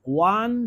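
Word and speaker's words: won: Bangladesh cricket team ওয়ান the match over Sri Lanka, এটার উচ্চারণ কিন্তু ওয়ান না, হ্যাঁ, মানে ওন বলে অনেকে, এটা উচ্চারণ হচ্ছে ওয়ান।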